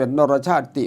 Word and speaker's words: นรชาติ: นรชาติ ติ วัง วาย คำ ว่า นรชาติ นี่ ที่ จริง ไม่ มี เสียง ติ แม้ จะ มี สระอิ เขา ก็ ไม่ ออก เสียง แต่ มา ถึง ตรง นี้ ต้องการ เสียง ลหุ คือ เสียง สั้น เสียง ติ เป็น เสียง สั้น ก็ เลย ให้ ออก เสียง เป็น นรชาติ ติ วาง วาย อัน นี้ คือ